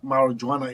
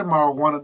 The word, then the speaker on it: marijuana: marijuana people can say marijana it's actually marijuana the J is silent it's a Spanish word the Spanish don't pronounce